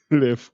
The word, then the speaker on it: Leffe: Leffe, but okay, It's I was gonna say Leffe,